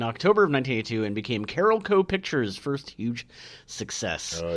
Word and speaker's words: Carolco: saw a lot of it's definitely carolco Carol Co but I was was like carolo uh Carol Co was